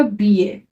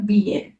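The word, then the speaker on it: billet: double L ई टी तो हम I double L को प्रोनाउंस करेंगे ई ए करके तो कैसे प्रोनाउंस होगा इसका इसका प्रोनाउंस एशन होगा बी ए फ्रेंच में क्या जनरली क्या होता है जो भी लास्ट वर्ड होता है ना वो कभी प्रोना उसको हम प्रोनाउंस नहीं करते तो यहां पे वैसे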